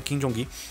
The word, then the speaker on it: Kim Jung Gi: Descobri que é assim que pronuncia o nome dele, eu sempre falei errado na minha vida inteira, o nome dele é Jong-gi, né, Kim Jong-gi.